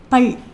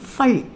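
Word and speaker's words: फल: பல். பல் கிடையாது, ஃபல். ஃபல் அப்படின்னு ப்ரொனவுன்ஸ் பண்ணணும்.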